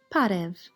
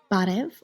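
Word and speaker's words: Բարեւ: In eastern Armenian it is pronounced b. In western Armenian it is pronounced p and it looks a little bit like a lowercase f in English.v or pararev.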